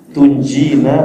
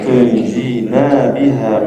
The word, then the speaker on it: tunjina: Nah, bacanya Allahumma salli ala sayyidina Muhammad salatan tunjina biha min jami'il ahwali wal afat. Ini kadang-kadang kita silap baca kat sini. Tunji nabiha, jangan baca panjang.